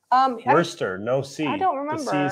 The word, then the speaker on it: Worcester: price on this did you get that it's pronounced Worcester um Worcester No Seeds I don't remember see silent gotcha